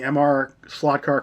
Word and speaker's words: MR Slotcar: Alright everybody, as you can tell from the title slide, we have some big news from MR Slotcar. And remember, that's how you pronounce it, not Mr. Slotcar.